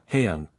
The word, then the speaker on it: Haeyoung: Yesterday after school, Haeyoung, pronounced Haeyoung, came up to me and my wife and showed me her school pictures, both her individual photo and her group/grade photo.